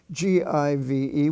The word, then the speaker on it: give: spelling family you have g-i-v-e which is pronounced give or live which is